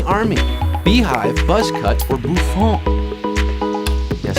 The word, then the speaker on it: bouffant: Beehive, buzz cut, or bouffon? Yes, I'm going with the proper French pronunciation. Bouffon.